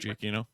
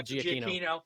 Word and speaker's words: Giacchino: Giacchino. Michael Giacchino.